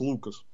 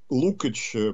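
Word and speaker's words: Lukács: страшного а так джону ну в америке нас указан его фамилию произносит как лукас но он венгерского происхождения и у нас те его книг которые переводят ник некоторые перевели дальше лукач поэтому давайте я буду придерживаться более венгерского варианты называть его лук все-таки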